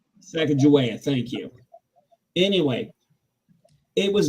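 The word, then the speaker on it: Sacagawea: learn more about um Eli who help me pronounce her name Saka joa Saka joa Saka joa thank you anyway it was very interesting because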